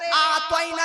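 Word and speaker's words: أعطينا: সূরা কাউসারের আতাইনাটার উচ্চারণ আলিফ আইন তা ইয়া নুন।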